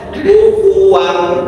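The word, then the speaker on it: كُفُوًا: Jadi harus kuuan kalau enggak dibulat itu jadi kukufu. Ya, kufuan bukan tapi kufuan dari kufuan. Nah, ini kesalahannya ya. Jadi kufuan jadi dibaca kufuan.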